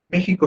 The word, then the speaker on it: México: México sí podría ser esdrújula. Y a decir verdad lo es, porque es la antepenúltima sílaba la que lleva la tilde.